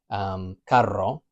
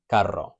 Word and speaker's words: carro: So some examples of these, we've got carro, it's a hard C sound, ca, carro.